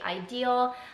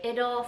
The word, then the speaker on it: Idyl: you're not new to Idol and I think it's pronounced Idol I hear some people say ideal I've heard someone say idle so I like to